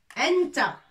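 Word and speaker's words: أنتَ: Anta. Toi. Un homme. Anta. Anta taktubu. Taktubu. Anta taktubu. Anti. Toi, fille. Toi, homme. Anta. Obligé, on met fatha. Pour prononcer anta, c'est un homme masculin.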